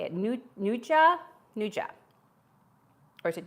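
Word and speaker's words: nduja: Nuja, or is it Duja? N-D-U-J-A, Nuja.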